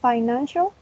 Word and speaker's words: financial: Then we have financial. It has 3 syllables, and the stress is in the second syllable.